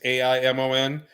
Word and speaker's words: Amon: My amp card name is Amon. Amon. Different name. Amon is Aimon. Some people have spelled it with an H, but in French you don't pronounce the H.